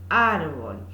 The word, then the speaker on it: árbol: Bien, que en forma lineal sería árbol, y al que le tengo que hacer un énfasis porque nosotros, digamos, acentuamos esa sílaba, ¿no?